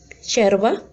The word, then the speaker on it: yerba: Então, os argentinos pronunciariam essas palavras assim: yerba, yogur, yo. Como se fosse um X, certo?